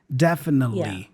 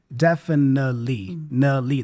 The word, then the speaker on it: definitely: the pronunciation here because notice that he doesn't pronounce the T he doesn't say definitely nothing like that imagine there's no T there and we just hear the n Sound definitely definitely that's how he speaks it definitely definitely be a